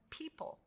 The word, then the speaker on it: people: e long e sound the o is silent here as in people let's say it together people put very good when